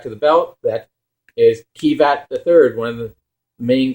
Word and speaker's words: Kiva: well they're japanese okay he said kiva but it's supposed to be a v now henshin and it